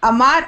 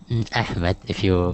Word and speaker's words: Ahmed: Is it Ahmad or Ahmed? Ahmed, Ahmed. if you could pronounce the second letter as ha. Ha.